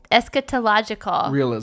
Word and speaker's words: eschatological: Eschatological.